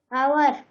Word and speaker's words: hour: Hour. आवर. Hour. आवर. Hour. आवर. S silent है.